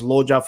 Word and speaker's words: LUJA: So it's LUJA, pronounced as LOJA for short.